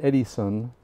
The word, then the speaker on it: Edison: time Eddie uh Edison actually you pronounce it Eddie son so that's how we got Eddie out of it this is the guy